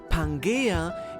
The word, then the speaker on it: Pangaea: Even the term Pangea, or as it is more correctly pronounced, Pangaea, is derived from Gaia, the goddess that is Mother Nature herself in Greek mythology and embodies the earth.